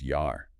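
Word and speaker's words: Jahr: The German word for year, it's spelled J-A-H-R. If you read that with English eyes, you'd say jar. Like a jar of pickles, yeah. But with the rule, J is Y. It's yar.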